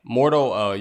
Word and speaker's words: Mordo: Mordo. Yeah, Mordo.